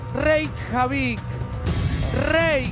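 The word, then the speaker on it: Reykjavík: realidad no no porque es reikiavik javi no es con el rey javi que te digo yo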